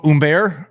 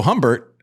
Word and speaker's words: Humbert: Anyways, Hugo Humbert, otherwise known as Hugo Humbert, because we don't pronounce H's.